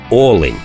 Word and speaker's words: олень: всі наголоси над оленями правильний наголос на перший склад як в однині так і в множині олень ось такий короткий гайд